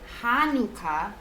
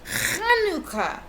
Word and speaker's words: Chanukah: family grandpa hi there tonight's not hanukkah grandpa says it's kanuka that's what i said lucy is confused hanukkah grandpa grumbles say it with me actually both hanukkah and